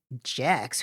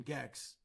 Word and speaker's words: Gex: Jex. Who the pronounced Jex? Goes into this video store, I think in Toronto, and he says, "Do you have the video game Gex?"